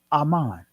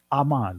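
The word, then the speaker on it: אמן: Aman. That's the ancient Hebrew pronunciation of the word Aman. Look it up. In your strong concordance, the primitive root word will say Aman. It'll be spelled Ahman.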